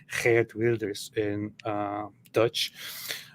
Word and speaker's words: Wilders: who's actually pronounced Geert Wilders in Dutch. I think the W for them is a V, like in German, isn't it?